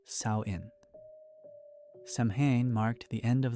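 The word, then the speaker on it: Samhain: People gathered every year for a festival called Sam. pronounced sain.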